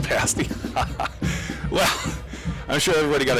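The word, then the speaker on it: Ishpeming: says go pirates Donnie Joe says oh it's pronounced pass me well I'm sure everybody got a kick out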